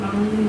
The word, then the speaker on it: 막론: 막론 이렇게 돼 있죠? 네. 망. 자, 쓸 때는 니은로 씁니다. 그런데 일단이 니은음이 니은으로 바뀌어요. 발음이. 왜냐면 발음하기 어려워.